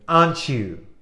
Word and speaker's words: aren't you: You are a good student, aren't you? And I really like that sound. Aren't you? Es casi como una CH, aren't you?